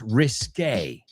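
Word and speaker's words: risqué: However, there's a word that we get from French if I'm not mistaken. And that word is r i s qu u e. And this one is pronounced risque.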